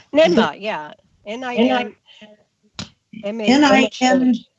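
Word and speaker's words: Ninmah: NIMBA, yeah. N-I-N. N-I-N. How do you spell it?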